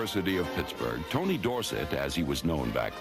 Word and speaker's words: Dorsett: Anyway, Dorsett is supposed to be a French name. And S E T T spells set and not sit.